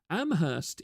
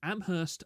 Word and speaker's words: Amherst: see the problem already a joke you hear a lot is that in Amherst only the H is silent it's a town known